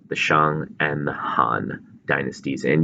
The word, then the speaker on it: Shang: we're going to be specifically looking at the Shang Dynasty the Jo dynasty the Qin Dynasty and